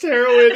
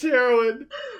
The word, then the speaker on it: heroine: It is it is pronounced heroine. It is pronounced heroine. I know that sounds like the drug. It is like the drug.